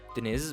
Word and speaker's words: Deniz: My real name is Dennis, or in proper pronunciation, Deniz, but don't call me that. Which is the Turkish word for sea or ocean.